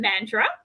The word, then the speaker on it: Mandurah: Well, first of all, we pronounce it Mandurah, and Mandurah.